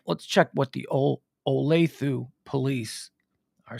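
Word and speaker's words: Olathe: outside of kansas missouri olaf is pronounced okay so it's not olaf it's olathu high school and uh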